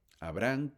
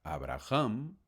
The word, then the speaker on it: Abraham: Y Abraham se llamará Abraham o Abraham, una pronunciación porque la h es muda.